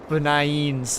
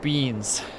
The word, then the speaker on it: B9eans: Beans. The 9 is silent. Oh, whoops, I didn't read that part. Beans.